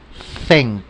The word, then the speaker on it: think: Think. Como decir una D. Think, ¿verdad? Think, think, think, think. Para los que les cuesta un poquito más, pueden empezar a pronunciarlo como una Z.